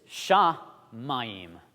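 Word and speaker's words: שמים: Well, this is shamayim. You hear that ayim sound at the end?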